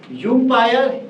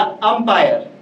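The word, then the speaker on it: umpire: अगर यू का उच्चारण यू की तरह होता तो आप पढ़ते यूम्पायर, लेकिन यहाँ सर यूम्पायर नहीं अंपायर पढ़ते हैं, क्योंकि हम इसका प्रोनाउंसिएशन, इसका उच्चारण यू की तरह ना करके ए की तरह कर रहे हैं।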